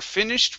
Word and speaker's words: finished: one more time we're finished with dinner is it t or daa it's a t Okay the sh is an unvoiced sound so the Ed will be a t sound we're finished we're finished